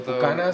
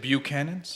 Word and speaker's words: Buchanan's: Well, Buchanan's the white whiskey? boys pronounced it Buchanan's, Buchanan's? which is correct because it's from Scotland.